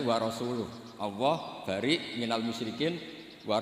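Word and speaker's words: ورسوله: Allah itu terbebas, gak urusan dengan orang musyrik, wa rasulih juga gak ngurus Rasulnya. Kalau sama Rasul saja tidak ngurus, apalagi sama kita. Bersama Sayyidina Ali dibenarkan yang benar bacanya itu wa rasuluh.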